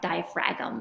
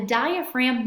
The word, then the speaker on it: diaphragm: Looks like it would be pronounced diaphragm, but the G is silent. So as the diaphragm muscle contracts, which means squeezes, it's going to flatten.